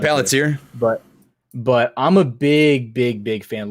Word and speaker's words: Palantir: I'm a big, I might be mispronouncing the first A in there. Palantir. No, you got it, Palantir.